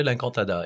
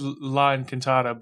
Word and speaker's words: L'Incantada: Yeah, L'Incantada. Yeah. I always said La Encantada, but I think it's L'Incantada.